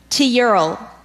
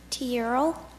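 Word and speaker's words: tilleul: To Ural. What's the part of speech? This word is a noun. Teural.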